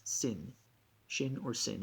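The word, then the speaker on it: שִׂין: with a sh shin the dot over the left indicates that we pronounce it with an s sin shin or sin it's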